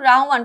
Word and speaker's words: রাহমান: আচ্ছা, তোমাকে পাওয়ার জন্য হে স্বাধীনতা এই কবিতাটি লিখেছেন শামসুর রাহমান। দেখো আমাদের যেই প্রচলিত কথাগুলো আছে আমরা কি বলি? রহমান বলি, তাই না? রহমান, বাট তার নামের বানানটা হচ্ছে রাহমান। এটা আমরা যেন কখনো না ভুলবো, ঠিক আছে?